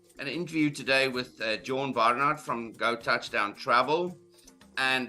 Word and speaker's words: Barnard: me um yes Barnard or Barnard as they would pronounce it in South Africa and yes uh been